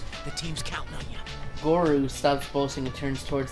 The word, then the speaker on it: Goru: I'm talking with Goru? How do you say that name? Gorau?